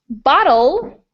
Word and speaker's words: bottle: Bottle is a little bit faster. It's more like a flap.